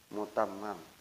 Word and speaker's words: Mutammam: Saya jazakan qasidah burdah karya Al-Imam Syarafuddin Abu Abdullah Muhammad Al-Busiri yang ditulis oleh saudara Ahmad Mutammam, ya, bukan Tamim, ya. Mutammam, oleh saudara, yang ditulis oleh saudara Ahmad Mutammam dalam kitab ini kepada orang yang ingin membacanya.